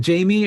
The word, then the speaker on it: Jaime: And then Jamie or Jaime, I don't know how it's pronounced. Jaime. Yeah, Jaime.